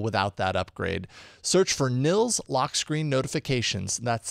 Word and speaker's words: Nils: pretty darn capable without that upgrade search for Nils lock screen notifications that's spelled n i LS in the Play Store